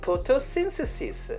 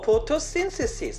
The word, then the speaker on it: photosynthesis: photosynthesis. photosynthesis. 아, photosyn. 그 악센트가 있습니다. photo, photosynthesis.